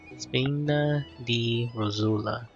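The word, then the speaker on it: Spina di Rosula: Spina D Rosula.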